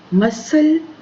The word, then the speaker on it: muscle: Then handsome, this is not handsome, this is handsome, D is silent here. Height, E. Knife, K. Business, I. Honest, H. Muscle, C.